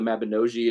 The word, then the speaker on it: Mabinogi: based on the mabinosian Welsh mythology or the Mabinogi is Dave The Bard this told me is the correct pronunciation but so there's like this really kind